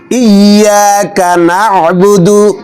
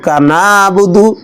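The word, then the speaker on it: إِيَّاكَ نَعْبُدُ: ইয়া বলতো ইয়া ইয়া ইয়াকা নাবুদু ইয়াকা নাবুদু নাবুদু নাবুদু আইনটা স্পষ্ট করে উচ্চারণ করতে হবে অনেকে পড়ে ইয়াকা নাবুদু কান নাবুদু কেউ কেউ বলে কান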